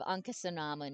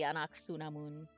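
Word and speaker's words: Ankhesenamun: correct it would be instead of anasun it would be anaksunamun so it would beamos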